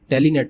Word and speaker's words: Telnet: ठीक है, okay, टेलनेट की स्पेलिंग गलत है जी, टेलीनेट नहीं है, इट्स टेलनेट।